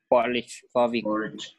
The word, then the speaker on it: Warwick: Warwick. Yeah, it's spelled Warwick, but you got to Warwick.